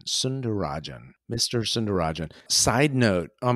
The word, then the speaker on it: Sundararajan: go ahead correct and the last name is sunderajan sunderajan okay it helps me when it's spelled his name is spelled Su u n d a r a r a j a n sunderajan Mr cerin side note on my very first